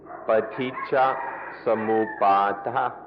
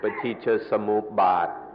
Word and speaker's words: paticca samuppada: The word is paticca samuppada. Paticca samuppada. In Thai, the pronunciation is a little shorter, paticca samupbad. But in the Pali, it's more like paticca samuppada.